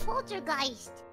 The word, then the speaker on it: Poltergeist: how you say it it's not poter G's I don't know how you got that who is correct me bio bio is correct it's Poltergeist okay whatever Ella can't